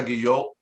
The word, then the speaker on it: Guillot: We have JP Guillot. For those, he mentioned Olga Guillot, and that's how you pronounce his last name.